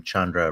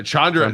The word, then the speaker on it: Chandra: It's like rhymes with abode, and the last name Chandra rhymes with tundra. So Chandra.